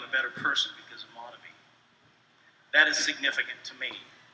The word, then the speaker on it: Monavie: others pronounce the word Monavie. For me, it will always be Monavie.